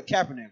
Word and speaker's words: Kaepernick: is basically the mindset of uh brother brother Kaepernick right that's how you say his name this